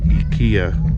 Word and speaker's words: Ikea: So we're in Ikea. In Japan they pronounce it Ikea for some reason. We call it Ikea.